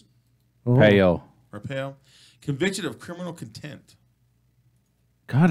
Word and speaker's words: Arpaio: So anyways, former Sheriff Joe Arpaio, how do you pronounce it? Payo. Arpaio, convicted of criminal contempt.